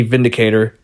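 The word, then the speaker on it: Windicator: Now, I know it's spelled with a W, but it's pronounced with the V, Vindicator, because it is made in Germany.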